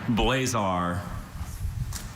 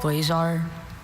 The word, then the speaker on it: blazar: Blazar.